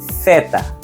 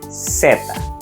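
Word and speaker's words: zeta: letter c or letter they can be pronounced two ways number one with the unvoiced th sound like thanks thought or thing Theta or simply with a s sound seta so let's repeat the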